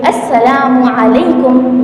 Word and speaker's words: السلام علیکم: تو سب سے پہلے چاہیے کہ اس کا تلفظ صحیح کرے۔ تو سلام کا تلفظ یہ ہے، السلام علیکم ورحمۃ اللہ وبرکاتہ۔ اس کا مطلب یہ